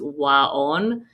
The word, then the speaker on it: Waon: Google a therapy called Waon, or it's actually, the way you pronounce it is Waon, which stands for soothing warmth.